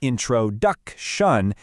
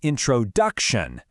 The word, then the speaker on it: introduction: It's not introduction. It's introduction.